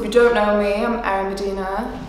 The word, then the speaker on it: Erin Budina: So you pronounce it Erin Budina, not Erin Budina, not Erin Budina, it's Erin Budina.